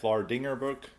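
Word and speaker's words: Vlaardingerbroek: I'm going to say that's how the best way of pronouncing it, Vlardingerbroek.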